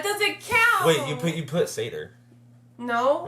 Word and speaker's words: satyr: Satyr.